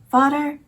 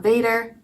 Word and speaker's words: vader: spelled like father in Dutch but it's not pronounced the thing so fodder and not Vader but that is a Dutch word for dad